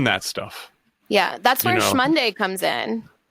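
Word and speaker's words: SMonday: value-based work that's there i spell shmonday capital s capital m-o-n-d-a-y but i pronounce it shmonday i love it um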